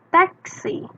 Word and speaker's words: taxi: diatasnya tulisannya taksi Nah kalau taksi itu bahasa Inggrisnya teksi sama ya tulisannya teksi